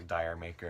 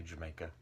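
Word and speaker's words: D'yer Mak'er: that I've heard like a Dyer maker and things like that I think I've read something about it's supposed to be like with a British accent he say Jamaica anyway good album good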